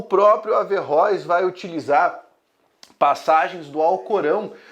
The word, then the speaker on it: Averróis: por fim averróis que muita gente acaba falando a ver o a pensando que é um termo mais francês mas a pronúncia averróis mesmo ele vai fazer uma